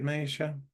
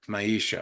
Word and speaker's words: Maisha: list Misha awesome um am I saying that right Misha or is it more of a Mayha yep Maisha okay so a long e okay cool let me